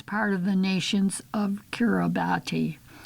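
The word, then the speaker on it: Kiribati: It now forms part of the nations of Kurabati pronounced Kirbas dling which compromises 33 ocean specks straddling the international date line.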